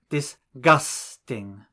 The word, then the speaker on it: disgusting: For example, the English word disgusting has 3 syllables, disgusting, and it is the second syllable which is stressed.